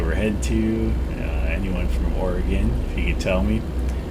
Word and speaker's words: Oregon: the pacific northwest we all know that it's pronounced oregon like oregonians will tell you that it's oregon but i would get a lot of people